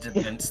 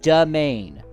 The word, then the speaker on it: demesne: Then how do you pronounce It's domain. Yeah, it's essentially like an It's essentially an English spelling of domain.